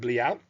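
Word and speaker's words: bliaut: We think bliard is the proper pronunciation.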